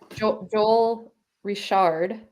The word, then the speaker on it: Joel Richard: Joel Richard, yes.